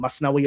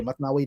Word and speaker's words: Masnavi: It can be spelled Masnawi or Matnawi depending on the pronunciation.